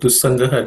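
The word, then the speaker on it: दुस्सङ्गः: In terms of pronunciation, for the first word, Dussangah does not have any aspirated consonants.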